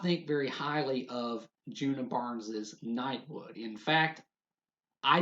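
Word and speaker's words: Djuna: Well, if you do, then allow me to present you with Nightwood by Juna Barnes. The D is silent.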